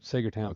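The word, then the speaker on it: Saegertown: That's called uh pronounced Saggertown. Sager. Seager Town. Sager Town. Thought I heard you say Sager. Yep. Sager Town, Pennsylvania.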